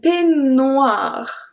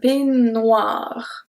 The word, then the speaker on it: peignoir: We have un peignoir. Un peignoir. So really don't pronounce any E. Un peignoir.